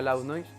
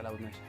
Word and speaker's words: Loud Noise: Se pronuncia Loud Noise. Hay mucha gente que igual lo pronuncia mal y dice Loud Noise, bueno, se pronuncia Loud Noise. Para la gente que lo pronuncia mal.